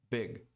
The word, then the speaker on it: big: A pronúncia correta é big. Big. Muita gente, brasileiro, tem essa mania de colocar som de I em palavras que não terminam com Y.